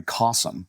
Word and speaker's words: Cossum: leads it, this guy Cossum, which rhymes with awesome, sounds like awesome, because he is awesome.